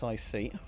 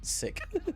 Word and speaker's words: sic: RTP, TVI, and SIC. Pronounced like the word sick.